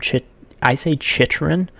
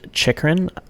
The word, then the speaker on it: Chychrun: I say Chychrun, because it is a lot of CH in his name. When you look at it, there's a double CH throughout his name.